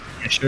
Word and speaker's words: Cheshire: entirely earlier in Cheshire, or one day I'll pronounce Cheshire correctly. Cheshire, is that how they say it?